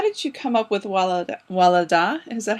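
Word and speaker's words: Wallada: So, how did you come up with Walada? Is that how her name is pronounced? I say Wayada, but Wayada.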